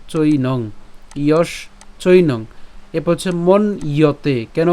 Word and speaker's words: মন্যতে: এরপর হচ্ছে মন ইয়তে, কেন মন ইয়তে, কারণ এখানে যে জফলা আছে, এই জফলা উচ্চারণ কার মতো হয়, ইয়র মতো হয়, এর